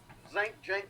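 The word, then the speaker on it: Cenk: And I saw a clip where Jink, whatever his name is. Okay? It's not pronounced the way it's spelled. It's spelled Sink, but that's not what it is.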